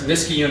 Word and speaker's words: Niskayuna: Now, Sam, it's Niskayuna, actually, is how it's pronounced.